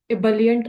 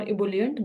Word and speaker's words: ebullient: The word of the day, ebullient or ebullient, both the pronunciations are correct, was used 5 times by Toastmaster Kalpana, Deepika, Mehak, and Megha.